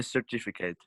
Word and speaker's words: certificate: A certificate. Because before EIY we pronounce S, and before other letters we pronounce K. K.